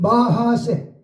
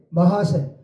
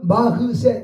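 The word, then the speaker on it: מחסה: 그래서 우리는 끊임없이 하나님 안에서 주를 바라봐야 피난처 그 히브리어는 마하세 마하세 혹은 마흐세 이렇게 발음이 나와요.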